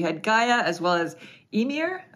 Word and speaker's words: Ymir: We had Gaia as well as Ymir, I believe, is the pronunciation.